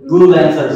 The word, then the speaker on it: Goolancer: atau Go laner go laners ya oke karena Double O ya Go laners oke